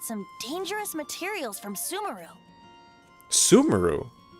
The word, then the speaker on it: Sumeru: Sumeru? They pronounce it Sumeru? Like Subaru?